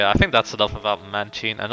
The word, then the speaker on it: Mantine: think that's enough about manchin and obviously i'm pronouncing it that way because i believe that's how it's officially pronounced i prefer mantine to be honest because it makes more sense but a mystic poker